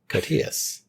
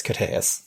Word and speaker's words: Koteas: Going by the pronunciation on Wiki, which, okay, I always said Koteas, but... I've always said Koteas, so... So it's Koteas. Koteas. I was pretty close. There's a schwa.